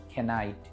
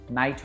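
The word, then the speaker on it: knight: কেউ কখনো বলেনি খেনাইফ খেনাইট। এই কে যেন বসে থাকে এখানে অভিমানী সৈনিকের মত।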